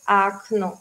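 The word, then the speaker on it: окно: tiene el acento, como acno, se escribe con dos O, pero es acno, porque el acento está en la segunda letra, o acno, la ventana, ya, y la primera es más A.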